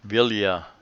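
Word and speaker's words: Villa: out here is vilya Vilia a beach the they pronounced both ELLs the Ilia beach and do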